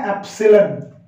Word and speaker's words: एप्सिलॉन: है, इसकी प्रोनाउंसिएशन है एप्सिलॉन। क्या है इसकी प्रोनाउंसिएशन, इसकी प्रोनाउंसिएशन है एप्सिलॉन, ग्रीक या लैटिन लैंग्वेज से लिया गया सिंबल है।